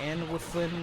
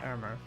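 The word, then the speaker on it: Annwfn: us go to Irma you may think it's pronounced annual Flynn or Ann Flynn or a bunch of other ways it's called armor now here's our tablet it's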